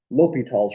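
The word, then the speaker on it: L'Hôpital: Li Tall's rule is how that's pronounced.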